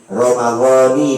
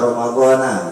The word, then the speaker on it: Ramadhani: Ya, dibaca sama-sama nawaitu, ya, shauma syahri Ramadan, Ramadhani bukan Ramadhana, ya, ingat bukan Ramadhana.